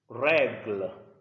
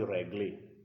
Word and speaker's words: règle: Règle. I do not say régler. No. Règle. Because the E at the end doesn't carry any sound, any sign. So it's règle.